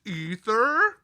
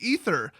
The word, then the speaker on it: aether: badass isn't it pronounced ether yes when spelled correctly that word is pronounced ether but the way they